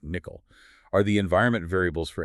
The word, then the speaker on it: NCCL: For distributed training, this often means looking at Nvidia's NCCL, pronounced nickel.